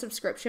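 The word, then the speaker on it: phở: see like I know that but whenever I pronounce this fuh no one knows what I'm talking about so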